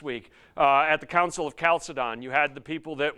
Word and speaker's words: Chalcedon: West who are saying, don't mess with the Chalcedon.